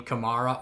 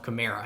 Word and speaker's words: Kamara: interview they asked him they said you pronounce your name kamara or camara and he said his mom pronounces it alvin kamara and he pronounces it himself camaro and he said he doesn't really care how you say it just however it rolls off your tongue so i say it